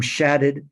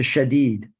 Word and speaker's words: Shadid: After time in Cairo and the West Bank, he changed the pronunciation of his name from Shadid to Shadid.